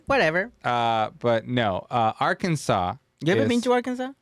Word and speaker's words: Arkansas: being the state that is spelled Arkansas but pronounced Arkansas you I I think you have like a